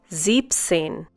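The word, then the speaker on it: siebzehn: This is to make the pronunciation easier. Also the next number is slightly exceptional. Zepsane.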